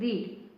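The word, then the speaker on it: read: रीड। ठीक है? नेहा मुझसे पढ़वाती है। Neha makes me रीड। रीड की तीनों फॉर्म रीड ही होती है। लेकिन प्रोनाउंसिएशन अलग होता है। फर्स्ट फॉर्म में रीड कहते हैं।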